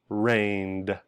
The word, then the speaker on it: rained: If it's voiced, rain is pronounced rained with a duh in the back at the end.